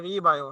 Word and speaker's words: রিবায়ো: তো আমাদের প্রোডাক্টের নামকরণটা যদি আমরা একটু খেয়াল করি তাহলে রিবায়ো, হ্যাঁ এখানে দুইটা সিলেবল আমরা উচ্চারণ করব, একটা রি আর একটা হচ্ছে বায়ো।